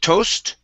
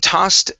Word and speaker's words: tossed: next is um okay the word tossed okay instead of toast okay and tossed a sealed deck it tossed a